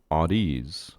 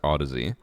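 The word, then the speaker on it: Audeze: like to call them, Audies. It's not an these nuts joke, but it is supposed to be pronounced Odyssey.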